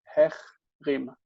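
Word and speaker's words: החרים: But you still need to pronounce the het itself, though. So it's ech, hechrim. Hechrim.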